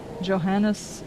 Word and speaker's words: Johannes: Johannes is pronounced Johann.